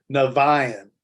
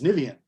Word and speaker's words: Niviane: wrote a song called Niviane where I sing Niviane. right? Mm. After talking with multiple fans and people from around the world, they're like, that's not the way it's pronounced. It's Niviane.